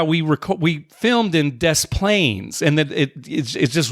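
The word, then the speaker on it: Des Plaines: to pronounce Plains yeah you pronounce the S even though you don't pronounce pronounce the s in Illinois you do in dis planes wa they are really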